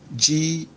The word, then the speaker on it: gagama: The first and the second A's, the stress marks on them are all falling from left to right. And the last A, there is an inflex on it. So when you're pronouncing it, is gagama.